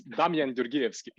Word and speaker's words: Damjan Gjorgievski: His name is Damjan Gjorgievski. I'm not sure if I pronounce it Close right. enough. Close enough. It's Damjan Gjorgievski.